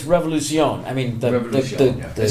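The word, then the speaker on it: Revolución: It's going to be Revolucion, right? Okay. I mean, that's the correct pronunciation. Yeah. I think in the song, Sam does say Avenida Revolution, but it's Revolucion.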